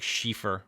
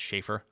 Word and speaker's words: Sheaffer: matte here with the logo it looks like shifur but it's pronounced shaffer the is uh this is their like little